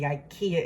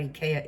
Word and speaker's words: IKEA: things like Ika Ikea you say Ikea in America but I learned about Ika in Italy so I always say Ika and everybody gives me